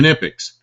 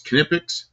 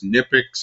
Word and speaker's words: Knipex: How do you pronounce it? Knipex. And you know how I know it's Knipex? Because I thought it was Nipix.